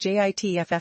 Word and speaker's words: JATF: JATF South, pronounced JITFF South, is hot on the trail,